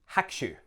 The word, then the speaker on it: Hakushu: Hakushu. Not Hakushu, Hakushu. In fact, the U of the ku gets a little bit swallowed up. It's still there, but better to say Hakushu rather than Hakushu.